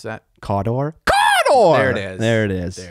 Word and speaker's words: Cawdor: Cawdor? Cawdor! There it is. There it is. There it is. Yeah, dude, my entry on Golden Demon, it specifically said caw, and then in parentheses, bird sound, door, which I don't